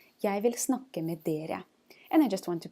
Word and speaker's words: de: And pay attention to the difference in pronunciation between det or de. Det, which means it, and de, which means they.